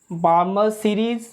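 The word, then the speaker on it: Balmer: और second is बार्मर series, बाल्मर लिखते हैं, पढ़ते हैं बार्मर से स्टूडेंट, एल साइलेंट है।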